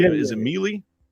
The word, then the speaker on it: Méliès: Is it Mealy? Méliès.